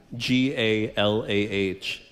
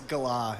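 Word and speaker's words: galah: G-A-L-A-H. Bird. It's a parrot from Australia. It's Gala. It's pronounced Gala.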